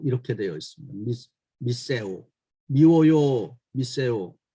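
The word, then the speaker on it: μισέω: 우리말에서 미워하다 이것은 히라보 성경 발음에는 미세오 이렇게 되어 있습니다. 미세오, 미워요, 미세오 참 그 언어적으로도 상당히 비슷하게 들립니다.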